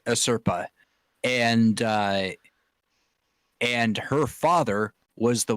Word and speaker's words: Asirpa: Well- He comes Sugimoto comes across an Ainu girl named Asiripa. Wait, did I pronounce that right? a Serpa. No. I Serpa. Yeah, Asirpa.